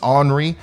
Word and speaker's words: Henri: and check on uh anri okay so once again the the correct pronunciation here is onri um the the h is uh silent i guess or henry